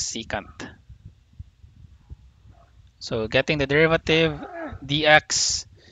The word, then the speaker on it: secant: second theta second secant it depends on how you pronounce it so i think the correct way is secant so getting the derivative